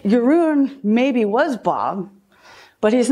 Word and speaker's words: Yaron: I go, well, Yaron rhymes with maroon.